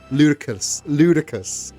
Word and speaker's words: Ludicrous: I'm doing a hard C. Ludicrous, like ludicrous but cuss.